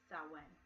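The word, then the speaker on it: Samhain: spelt SI m h AI n but it's pronounced so when i'm in his October thirty-first which is Halloween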